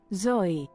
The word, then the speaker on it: Zoi: Zoi is Greek. Greek has its own slightly different alphabet, so they like spell it like, here, let me Greek. They spell it like, they say it like this. Zoi.